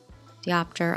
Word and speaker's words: diopter: Diopter allows for deep focus cinematography but requires much less light. I've been saying it wrong. Diopter.